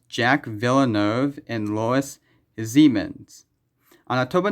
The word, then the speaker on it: Jacques Villeneuve: Its name is pronounced Jack Villeneuve and Lois Siemens.